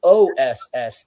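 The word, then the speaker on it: Ōs: the other is spelled OSS. They both have the same sound. It's os.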